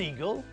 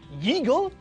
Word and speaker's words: eagle: An owl, an eagle, and a crow. Owl begins with a vowel, and it's not pronounced as yowl. Eagle begins with a vowel, and it's not pronounced yeagle, so that means we use un for those two.